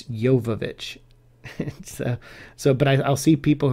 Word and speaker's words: Jovovich: say her name properly her last name is jovovich a lot of people say jovovich um but it's yovovich so but i'll see